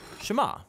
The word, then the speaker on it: Shema: Now, the first word of the Shema is hear or listen, which in Hebrew is pronounced Shema.